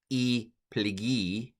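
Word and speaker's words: πληγή: So hos esphagmenein ace thanaton kai he plege, or e plegi in modern Greek pronunciation, to thanatu autou.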